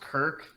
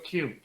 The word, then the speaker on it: Kirk: It's actually not pronounced Kirk in Mexico. It's actually pronounced Alejandro Q.